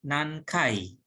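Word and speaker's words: 何回: Nihonjin wa ichinichi ni nankai ofuro ni hairimasu ka? Di sini nankai dibacanya kai karena menunjukkan frekuensi.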